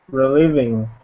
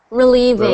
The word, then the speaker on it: relieving: Relieving. So that's pronounced relieving. With a V. Yes. Relieving.